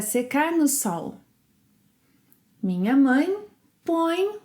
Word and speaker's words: põe: pomos, vocês, eles, elas põem. Aqui há muitos sons nasais. Eu ponho, eu ponho, você, ele, ela põe, põe. Duas sílabas, põe, põe.